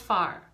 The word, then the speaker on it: fear: for man in gaelic f-e-a-r but it's pronounced far so ish farmy is